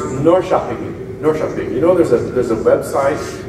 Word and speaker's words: Norrköping: It's pronounced Norrköping.